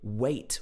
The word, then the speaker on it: wait: says wait we must so notice that he doesn't pronounce the t on the end of this word he doesn't say wait we must it's weight we must wait so the gloss is